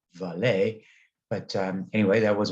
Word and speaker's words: Vale: informed me that uh my reference to vail was meant to be pronounced valet um and i hope